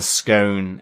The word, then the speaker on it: scone: off being unpredictable and I vote for scan's long o pronunciation totally wrong there Roger sorry to say um but I I'm absolutely uh with you that you can give a a long o to the the scone um even though that